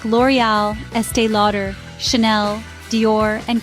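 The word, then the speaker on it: L'Oréal: let's break it down the first syllable L is pronounced just like the English letter L the next syllable or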